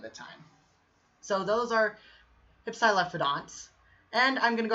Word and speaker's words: Hypsilophodont: Yeah, Hypsilophodonts is how you pronounce.